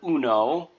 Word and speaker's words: uno: Then we've got our Spanish word uno. So the U is pronounced like oo, or two O's in English, just like in the moon, do, who, or you.